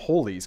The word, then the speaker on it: Halley: ali oh my god i bet i'm not the only one getting that wrong and all the big brains are going to be like simon pronounce that ali's comet what are you tiny brains although halley's comet and i'm gonna say it correctly from now on all